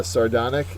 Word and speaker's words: sardonic: sardonic is next uh sardonic is an adjective second syllable is accent it is bitterly sarcastic